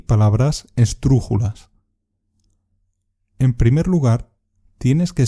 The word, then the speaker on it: esdrújula: Las palabras esdrújulas son aquellas cuya sílaba fuerte es la antepenúltima. Pájaro es una palabra esdrújula.